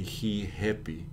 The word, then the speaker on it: Rihappy: But notice the pronunciation is pretty unpredictable. Mm-hmm. How are we going to know that this is going to be happy and not happy, for example? Exato. But every Brazilian will say Rihappy.